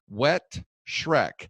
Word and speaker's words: Wettschreck: When we come back, we'll be meeting with Wettschreck, and we'll make sure I pronounce that again, because he told me that it's called Wettschreck, so as in the movie.